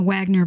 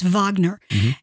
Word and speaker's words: Wagner: not familiar with them you may spell with a W so you may be pronouncing in a Wagner but it's Wagner and this gentleman uh